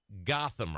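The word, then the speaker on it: Gottheimer: accurate recap yeah so Josh Gotham I think that's how you pronounce his name go t t h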